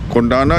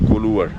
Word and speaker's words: Koluwara: Kondana is a mispronunciation of Koluvar.